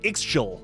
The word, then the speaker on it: Ixchel: she's the reincarnation of Ixchel. I think that's how you pronounce that. Itzel. It's Itzel, like schnitzel.